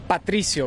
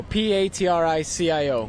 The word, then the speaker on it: Patricio: Give me the exact pronunciation of your first name. Patricio, Patricio.